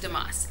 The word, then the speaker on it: DeMoss: do you say your last name jewel damascus damascus okay so this is joel dumas she is one of the artists here she